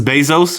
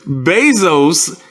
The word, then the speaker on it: Bezos: don't but this is bezos this is basils okay okay mesos here the basil's got money get base bezosis rhymes with moses yes you i know